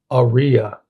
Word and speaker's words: Aria: Aria is how ChatGPT is saying to pronounce it.